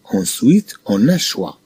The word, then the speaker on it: choix: Ensuite, on a choix. C-H-C. O-I-W-A. On a choix. O-I se prononce wa. Alors, C-H-O-I se prononce choix.